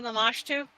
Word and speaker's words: Lamashtu: So, I want to correct you on the pronunciation. It's actually Lamashtu.